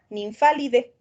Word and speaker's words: Nymphalidae: Entonces, en latín, cuando tenemos terminaciones AE, solamente se pronuncia la E.